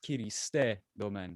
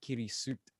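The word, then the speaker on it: Kirisute Gomen: __ ] got me onto it yeah it's pronounced kiriste domain it's not kirisut which is like how everyone says it um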